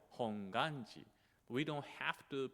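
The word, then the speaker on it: Hongwanji: pronunciation is a so although there is a w the W is actually silent we don't have to pronounce hongi we don't have to say like honganji you know honganji just say we can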